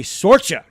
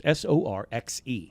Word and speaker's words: Sorcha: Sorcha. I believe its pronunciation is Sorxe.